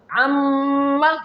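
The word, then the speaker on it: عمّ: Amma. Here the Ain Fatha making the connection with the Meem Mushaddadah, then the Ghunnah is performing.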